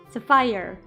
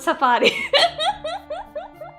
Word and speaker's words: sapphire: Sapphire. It's not Safari.